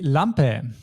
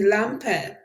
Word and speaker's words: Lampe: first we have the Lampe the Lampe the lamp be sure to pronounce the a in the end as always with German words when it's written we usually need to pronounce it and then we have